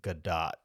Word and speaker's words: Gadot: Gal Gadot, and it's actually pronounced Gadot, but nobody.